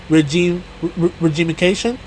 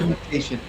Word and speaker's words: regimentation: and that is characterized by severe economic and social regimification. Is that how you say it? Regimentation.